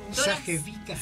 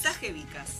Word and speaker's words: Sajevicas: ¿Cómo se pronuncia? Sajevicas. Sajevicas. Así nomás. Tal cual, así nomás. Sabía cómo era la pronunciación. Hay que decirlo de una. No jodas. Sajevicas. Tomás aire y lo decís. Sajevicas.